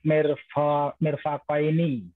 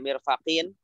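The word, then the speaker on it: مِرْفَقَيْنِ: Ila mirfaqaini. Ya, ila mirfaqaini. Kenapa dibaca mirfaqain, tidak mirfaqin? Karena ini mu'annas juga ini.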